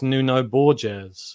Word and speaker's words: Nuno Borges: on the radar, one of your younger prospects, Nuno Borges. Is that the correct pronunciation?